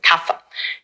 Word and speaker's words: kapha: By the way, it's kapha, p h, it's we spell it p h, but we pronounce it kapha in Sanskrit.